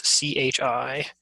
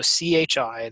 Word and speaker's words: Chi: I squared okay so CH I that's the Greek letter Chi it's not Chi however much your intuition might be telling you it's Greek i CH is a hard C like in school or chaos or basically any stage word they came from Greek so stuff like chimera